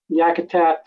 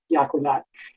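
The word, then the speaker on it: Yakutat: and um yakatat um how you pronounce it in clink it is yakatat but it has um the way they pronounce it now is is yakatat but the traditional way is is um Yak that and there's a couple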